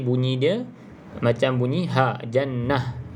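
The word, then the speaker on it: جنة: dia macam bunyi ha Jannah tak boleh baca jannat kalau jannat tu huruf ta yang terbuka kalau ta bulat bacanya ha Jannah kalau kita nak Berhentilah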